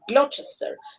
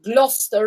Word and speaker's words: Gloucester: the other station glochester so that's how you're going to say glochester but in fact fact they say gloucester road that is g-l-o-u-s-e